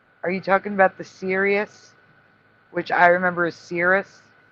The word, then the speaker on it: Sirius: It is Sirius. That is the current reality. Yeah, Cirrus. That is what I remember. It was not pronounced Sirius, like seriously.